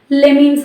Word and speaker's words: let me: let me அப்படிங்கிறத வந்து நம்ம எப்படி ப்ரொனவுன்ஸ் பண்ணலாம் அப்படின்னா லெமின்னு சொல்லலாம். ஸோ நம்ம ரொம்ப வேகமாக இங்கிலீஷில் பேசும்போது ஒவ்வொரு வார்த்தையும் நம்ம வந்து அழுத்தி சொல்லிட்டு இருக்க மாட்டோம். அப்போ ஃபாஸ்ட் இங்கிலீஷில் வந்து இந்த லெட் மீயை லெமி அப்படின்னு சொல்லி ப்ரொனவுன்ஸ் பண்ணணும்.